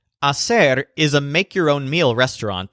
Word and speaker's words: hacer: her restaurant hacer now the infinitive a said means to do or to make the stressed syllable sounds like said although of course it has a completely different meaning hacer is a make-your-own meal